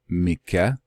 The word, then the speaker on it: Micah: contemporary then with Yeshua his name would more properly be pronounced Myka or I know just hold on possibly Mike why well because as